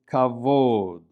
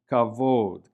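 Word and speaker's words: כבוד: And notice that the vav here in this word represents an O vowel, kavod. Right? The bet is pronounced like a V because it lacks the dagesh.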